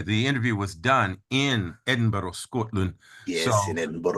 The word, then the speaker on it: Edinburgh: I saw in Edinburgh, trying to get the pronunciation of that correctly, Edinburgh, in Scotland recently.